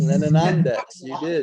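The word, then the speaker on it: Lanonandeks: Did I get all the syllables in there? Lenonadeks. Lenonandex. You did good.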